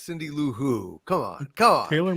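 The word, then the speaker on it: Cindy Lou Who: he had it com you sure is not pronounced hooville I always hooville no no no Cindy L ho is no it's Cindy L who come on come on Taylor Muller said she's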